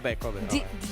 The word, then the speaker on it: Kobe: Kobe. D Nice. D Nice. D Nice. Denise told it was pronounced Kobe. I think that's how he likes to have it pronounced.